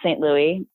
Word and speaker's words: St. Louis: Louis EST ello you is mine the last name is pronounced st. Louis and what else also my podcast I'm on